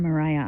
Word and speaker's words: Maria: I'm here at the fossil cliffs at Mariah Island, Tasmania. I used to call it Maria Island, but everything seems to have a different pronunciation than I think.